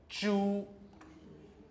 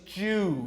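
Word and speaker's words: 猪: they spell this way, zhu. Yes, a lot of people say it like that, as though it's Jew. He's a Jew, all right? Now, what they're doing is, it's a pure vowel, so the tongue should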